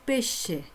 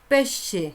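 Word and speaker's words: pesce: जिसको क्या कहते हैं, पेशे। क्या कहते हैं, पेशे। एस सी को क्या पढ़ेंगे, श, पेशे।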